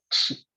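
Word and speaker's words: qi: en chikong, en tachi, on appelle ça le chi. Donc q i qui se prononce, c'est notre énergie.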